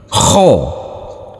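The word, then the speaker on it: خ: k h dan o Nanti bacanya seperti orang mengorok. Kita mulai. Kho.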